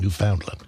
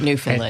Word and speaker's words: Newfoundland: You know you're from the Poconos when you pronounce it Newfoundland. That's right, not Newfoundland. And you don't say Newfoundland.